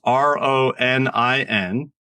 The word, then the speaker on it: Ronin: Now that's spelled just the way it sounds, but in case you don't know, it's Ronin, like the samurai without a lord or whatever, and Jedi, like the Star Wars thing.